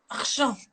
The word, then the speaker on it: Argent: Argent, how do you say your name properly, the full name? I've always say your name. Argent. Argent. French.